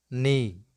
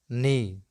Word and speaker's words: knee: the words which commence with cairn then k is not pronounced let's go with some relevant examples like no no knee knee knit knit night night